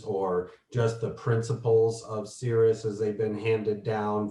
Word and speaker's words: Sirius: only one that might be of note to some people is if you work with the fixed star Sirius, sometimes pronounced Sirius, Mars is going to be conjunct it May 15th through the 19th.